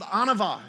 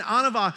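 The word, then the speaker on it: ענווה: and this word humility it's called anavah is how how you pronounce this and anawa it means to occupy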